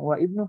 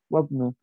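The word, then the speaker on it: وَابْنُ: Ketika di tengah-tengah dia tidak dibaca. Wabnu. Jadi bacanya ini wabnu Hamidin fil jami'ah. Wabnu Hamidin fil jami'ah. Kalau bilang wa ibnu tidak salah. Yang benar adalah wabnu.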